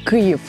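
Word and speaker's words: Київ: Es la capital que en ruso se dice Kiev, pero ucraniano. En ucraniano se KUV. U. Si pueden pronunciar esta u que estoy entrenando todos mis amigos para decir u.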